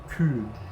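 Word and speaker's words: cū: Anglo-Saxon the word for cow is cu, cu with the macron on top of it, so it's cu. And that became cow after the Great Vowel Shift.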